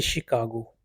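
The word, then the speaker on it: Chicago: देखें CH से भी श पैदा होता है जैसे शिकागो, CI से भी श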